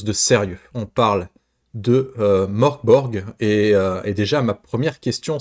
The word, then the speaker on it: Mörk Borg: On parle de Morkborg. Et déjà, ma première question, c'est est-ce que je le prononce bien?